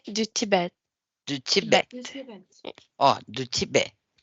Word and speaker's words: Tibet: Du Tibet. Oh, du Tibet. Prononce pas le T final.